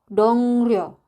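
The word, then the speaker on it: 동료: si realnya ini dia berubah menjadi nien, yaitu dibacanya adalah N. Kita langsung ke contoh biar nggak bingung. Yang pertama ada kata dongryo.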